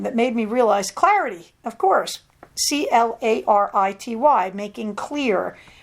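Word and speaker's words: Clarady: one is a guy named thomas clarity and yes that's a horrible pun his name is spelled c-l-a-r-a-d-y and i had the kindle reading it to me and it was calling him clarati because it was the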